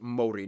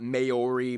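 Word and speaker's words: Māori: korea and japan yes by the way it's pronounced mori not maori maori i hope that you can see the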